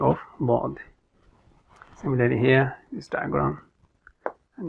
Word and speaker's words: ض: It is one of the heavy letters. When we are pronouncing it, then we don't make the facial expression as if you're going to smile, or our mouth or the lips doesn't remain flat.